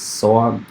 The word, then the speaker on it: SOA: service oriented architecture um usually pronounced as so uh consists of um